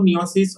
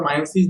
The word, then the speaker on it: meiosis: তো এখানে আমরা মেইনলি কথা বলবো মিওসিস অর মায়োসিস যাকে বলা হয়, ডিফারেন্ট টাইপস অফ নাম মানে উচ্চারণ হয় একটা ওয়ার্ডে।